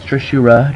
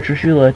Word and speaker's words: Trishula: Don't pronounce the L. I like saying it as it's Trishura, just like some Asians might call Godzilla Godzilla. So, yeah, I compare Trishula to Godzilla, which is a pretty fair comparison in my opinion.